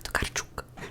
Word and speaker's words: Tokarczuk: the Dead by Olga Tokarczuk. And I know that you pronounce her name like this because of a friend that is Polish and she told me how to pronounce it.